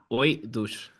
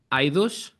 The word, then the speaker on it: AOIDOS: book your ticket now so how do you pronounce the band name so I don't butcher it okay uh o douche I would have never gotten anywhere close to